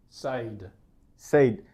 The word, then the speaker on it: said: যেহেতু spelling SAID, অনেকেই মনে করে এটার উচ্চারণ said, but that's not the case. The correct pronunciation is Said. said. It's like SED, said.